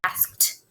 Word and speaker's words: asked: going to write we asked if i could spell it right it asked even though it makes the t sound you still have to have the e d past tense marker right there okay there's